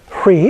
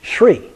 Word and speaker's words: Hri: And Hri is pronounced either Hri, the way it looks, or because of a linguistic variation, some people pronounce it Shri. Okay, they add an S in front. So either of those is okay.